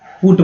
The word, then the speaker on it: put: जैसे कि BUT को जो है बूट बट बोलते हैं, लेकिन PUT को जो है पुट बोलते हैं ना। यहाँ पर जो है इसका उच्चारण क्या होता है BAUT बट, जबकि यहाँ पर ये उच्चारण जो है PUT पुट हो जाता है।